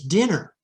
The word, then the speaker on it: dinner: So for example, dine, D-I-N-E, which has the silent E pattern at the end, versus dinner. The double N signals that we have a short vowel instead of a long vowel.